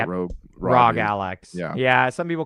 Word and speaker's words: ROG: That's the the other ROG Rog. How do you say Rogue Rag Alex? Yeah. Some people call it the Raj. Some people call it the ROG. I call it the Rag uh Rag Alli X.